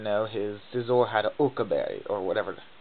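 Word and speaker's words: Occa Berry: And what I didn't know, his Scizor had an Oka berry, or whatever. How do you pronounce it? Uka berry.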